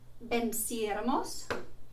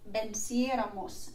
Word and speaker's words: venciéramos: And you can see that I've highlighted the third to last syllable because it has an accent above it. And so in the nosotros, nosotras form, we need to add that accent over the third last syllable to make the pronunciation correct.